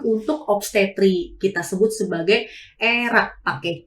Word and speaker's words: ERACS: Kita sebut sebagai ERAK, pakai C dan tambahin S. ERAK sendiri itu merupakan Enhanced Recovery After Surgery.